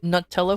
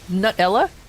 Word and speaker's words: Nutella: Both pronuncations pronunciations are valid. Nutella for British English. Oh, Nutella.